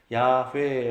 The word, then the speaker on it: 야훼: 라고 하는 타는 그래서 yh wh 이라고 하는 단어를 사용해서 야훼 라고 읽고 여호와라 그렇게 보는 갈았어요